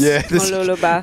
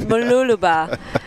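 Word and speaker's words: Mooloolaba: Mula yeah Matthew's asking how do you pronounce muluba could be a bit tricky for some people mul no it's Mula a beautiful it's interesting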